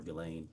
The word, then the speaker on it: Ghislaine: As best as we know, it's been publicly reported that in 2024, Ghislaine Maxwell, or Ghislaine, I think is how it's pronounced, arranged and wired $1